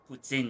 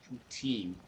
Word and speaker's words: poutine: Yeah, that's how I actually pronounced it like that until my husband looked at me askance when I did that. And so now I really play it up. I'm like, poutine. But you grow up where people speak French, and a lot of times you're more familiar with the French pronunciations.